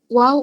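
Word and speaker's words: و: এই শব্দটা বলে কিন্তু অভ্যস্ত যখন আমরা ওয়াও ওয়াও অক্ষরটি উচ্চারণ করব তখন আমাদের এইভাবে ঠোঁটটা গোল হতে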